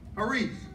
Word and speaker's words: charis: And it's spelled C-H-A-R-I-S.